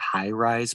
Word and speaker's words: HI-RES: In Toronto, there is the High Rise program, which is spelled HI-RES.